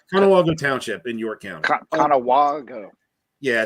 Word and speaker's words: Conewago: Conewago Yeah, it's a soft A. Yeah, rhymes with Chicago.